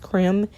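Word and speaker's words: crème: the range of cream I think it's pronounced creme it's c-r-e-m-e so basically when you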